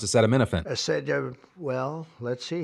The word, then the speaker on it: acetaminophen: The best part was Trump trying to pronounce acetaminophen.